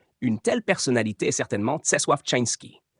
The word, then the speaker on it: Czesław Czyński: Une telle personnalité est certainement Czesław Czyński, prononcé Czesław-Czyński, un magicien polonais mentionné dans le livre